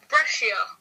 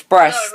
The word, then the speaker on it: Brest: Brescia. No, wait, hang on. It's Brest.